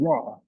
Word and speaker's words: Ra: So the last sound, the last vibrating frequency that we're going to engage in is called raw. Raw is spelled R A.